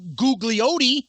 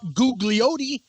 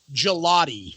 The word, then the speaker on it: Gugliotti: deal with it googly yeah exactly that's for use that that's for you sonny gugliotti it's gelati like jalopy gelati exactly thank you sonny